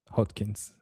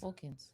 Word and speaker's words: Hawkins: pronounce his name right, Robert, Hot. Hodkins. Is that what it is? Hawkins. Hawkins. Yeah.